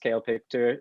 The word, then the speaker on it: CaelPictor: that yes so um my social media is kale picture it's pronounced kale picture c-a-e-l-p-i-c-t-o-r and i've we've got it up on